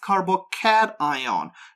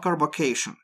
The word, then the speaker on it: carbocation: Before we go any further, I want to point out that it's supposed to be pronounced carbocation, not carbocation.